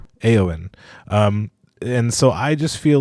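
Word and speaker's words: Éowyn: Rohan King also, Theoden, remembers, is it pronounced Eowyn? Eowyn.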